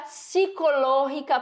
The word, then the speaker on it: psicológica: fazer uma descrição física psicológica professora picol engoli o p ó as palavras que começam com a gente vai ler psicológica o p é mudo tá psicologicamente é ou